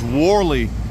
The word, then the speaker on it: Warley: morning welcome to w-e affectionately pronounced by the local residents as warley even though there was no no R in the title as you can see